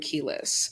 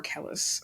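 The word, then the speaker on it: Kelis: for bounce it was Calvin Harris uh featuring keus so or Kellis sorry um pronunciations anyway um and then the M the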